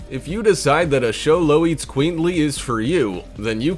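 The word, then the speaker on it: Xoloitzcuintli: barely be able to pronounce show low eats queenly there are plenty of ways this pooch is one of the rarest in the world show low that's how you say it yeah if i've got it right the breed comes in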